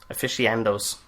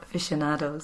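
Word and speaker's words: aficionados: Even nonh horror afficados. Did I say that? Afficionados.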